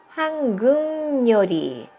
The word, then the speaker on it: 한국요리: じゃあ、한국요리 だけど、正しい発音は、한국요리。